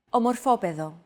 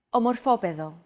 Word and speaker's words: Ομορφόπεδο: However, the accent mark had to be moved over to a different syllable in order to comply with our accentuation golden rule.